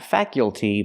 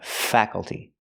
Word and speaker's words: faculty: up faka faka faculty the a is a short ass sound like black cat fa fa faculty not faculty but faculty The Faculty is the staff